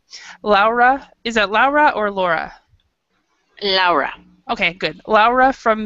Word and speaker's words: Laura: Laura, is that Laura or Laura?